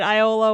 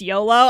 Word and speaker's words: Iolo: The problem is, now that I know it's pronounced YOLO, I can't say that with a straight face, y'all.